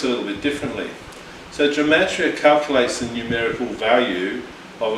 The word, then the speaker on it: gematria: So the number 14 is an example of what's called gematria, which is spelled Gematria. I'll repeat that again. Gematria, Gematria.